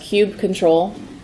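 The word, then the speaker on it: kubectl: with our kubernetes cluster as pronounced cubed control and they have some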